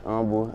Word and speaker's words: humble: Very first business, our hood, Silent H, humble. It was a T-shirt with like, I put a Honda symbol under Silent H. It means, because the H in humble is silent.